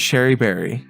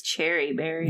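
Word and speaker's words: Cherie Berry: Her name is Sherry Berry. Yeah. And no, her name is Cherry Berry. Yeah, but it's actually pronounced Sherry, but no.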